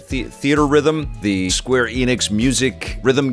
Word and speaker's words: Theatrhythm: Theatrhythm, how do you say it? Theater Rhythm, the Square Enix music